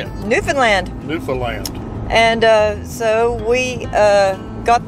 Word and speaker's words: Newfoundland: And they schooled us on how to say Newfoundland. And that's how you say it. Newfoundland.